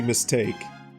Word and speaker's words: Mystique: You never thought to pronounce her name like Mystique? You're too distracted by the steak pun? I'm going to call her Mystique. Forever and ever. Even though it's clearly supposed to be mistake. But it's spelled Mystique. It is spelled Mystique, and I will die on this hill.